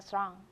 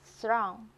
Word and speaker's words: throne: Prince Charles might sit on the throne in the future. 查尔斯王子将来有一天会继承王位。 Here I pronounce it as a throne with Jones. And how about American English? Oh, here, the vowel, throne.